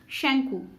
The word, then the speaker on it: শঙ্কু: রেখেছিলেন তিনি brilliant young Indian scientist professor শঙ্কু শ্যাঙ্কু উচ্চারণটা প্রফেসর শ্যাঙ্কু সম্বন্ধে দু চার কথা বলার পর